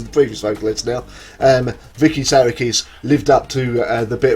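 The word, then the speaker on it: Psarakis: their current vocalist Vicky Sarikis, or Sariki, I believe it's Sarikis it's pronounced, and this is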